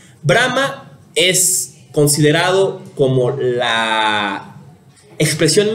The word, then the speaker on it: Brahma: los tres principales son brahma este y shiba no de convulsa que con Brahman se pronuncia parecido por la palabra diferente brama es considerado como la